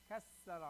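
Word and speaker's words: كسَّرَ: Kassara, right? Hold the sin.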